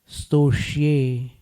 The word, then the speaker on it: स्तोष्ये: स्तोष्ये, अब कहीं कहीं पर स्त का जो उच्चारण है कुछ लोग को कठिन पड़ता है, तो वो लोग ई जोड़ करके करते हैं, इस स्तोत्र, तो वो उच्चारण अशुद्ध है, वहां पर ई नहीं लगाना। स्तोष्ये कैसे करोगे उच्चारण?